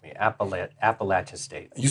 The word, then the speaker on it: Appalachian: You said it right. Appalachin State. I was practicing and I almost messed it up. I thought you were going to say Appalachian State. It's like Appalachian No Appalachian State.